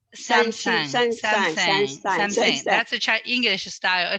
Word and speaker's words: Samsung: I decided to buy Samsung again.